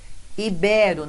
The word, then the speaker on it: ibero: item Está correto dois são paroxítonas ibero não é Líbero ó o ibero temos aí a paroxítona terminada em Ó é assim que pronuncia por isso realmente não